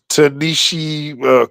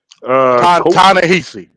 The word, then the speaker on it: Ta-Nehisi: then we also have Tanishi Coates. Hope I said that name right. So hell, You're not, bro. I'm not. Not no way. You're saying it right. Tanisi. Ta-Nehisi. Ta-Nehisi. Yeah, there you go.